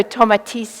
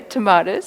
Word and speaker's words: Tomatis: So he was a French ear, nose, and throat doctor, and so Tomatis is how you pronounce it. We've sort of butchered his name a little bit, the English, so we all say tomatoes, so we'll carry on with that.